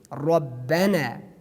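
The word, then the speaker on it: ربنا: Like the next example that you see in the screen, Rabbana, Rabbana. We do not pronounce these letters, these words. Rahman is wrong, Rahman, or maybe Rabbana is wrong. We have to pronounce them in tafkhim.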